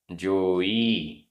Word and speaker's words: जोई: जोई, जोई बड़ी की मात्रा, जोई।